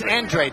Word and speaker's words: Andrade: writing I don't know Oh actually it's n trade the family prefers Andrade even though it looks like a neurotic and if if they